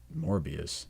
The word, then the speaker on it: Morbius: And then maybe Morbius, is that how you say it? Morbius.